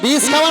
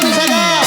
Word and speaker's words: বিশাখা: বিষ খাওয়া নয় বলো বিশাখা।